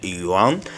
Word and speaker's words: Juan: C'est un Argentin, il s'appelle Yuan. J'espère que je prononce bien, hein. Je ne sais pas s'il faut dire Juan, mais bon, Yuan.